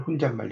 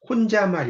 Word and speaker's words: 혼잣말: 혼잣말. 혼자말 이게 아니라 혼잣말.